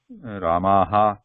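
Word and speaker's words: रामः: at the end, Rama, Ramaha, Ramaha, Ramaha, it is okay, just for understanding purpose. Technically, the pronunciation of Visarga should not contain the her, complete her sound, Ramaha, Ramah, Ramah, Ramah, at the end.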